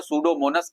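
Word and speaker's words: Pseudomonas: पढ़ा रहा था तो सूडो सूडो पीसाइलेंट है सूडोमोनस एंड एंड क्लॉस्टडियम इनको डिनाइट्रीफाइंग बैक्टीरिया कहते हैं।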